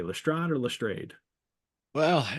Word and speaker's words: Lestrade: um, Um, Max suggests that Lestrade actually rhymes with Sade. oh, there you go. So Lestrade. Lestrade. Well, Watson and Holmes are now going to call upon Mrs.